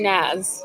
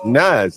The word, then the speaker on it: Nas: Um, I'm Naz. Nas. Like, like Nas the rapper like that? Yes. But how does he spell? N A S. Spelled the same way.